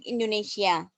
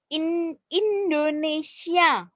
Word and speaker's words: Indonesia: ketika berbahasa lisan itu pengucapannya benar Indonesia bukan Indonesia atau Indonesia Indonesia Indonesia Indonesia 8 a.who roof